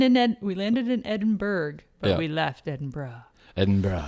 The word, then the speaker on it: Edinburgh: guess one what about the capital of scotland edinburgh edinburgh edinburgh yeah that's right so that one is spelled we learned that though when we were